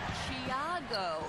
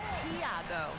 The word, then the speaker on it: Tiago: name but he says the pronunciation of his first name is closer to Chiago not Tiago and he added with